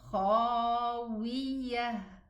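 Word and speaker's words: خاوية: This ta at the end of the word, when I stop on it, it's pronounced a ha. Remember, we mentioned this before. So, nakhlin khawiyah.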